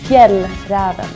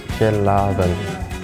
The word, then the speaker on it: Fjällräven: For you guys who doesn't have that letter in the alphabet, it's pronounced A. So it's like A-E, A. So it literally sounds like A without the dots in my language. So the A with the 2 dots, it's A.